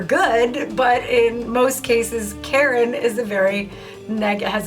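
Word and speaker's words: קֶרֶן: I I get to it and how you pronounce the word horn here because it's Coop Resh noon is Karen I'm like wait wait what Karen like Karen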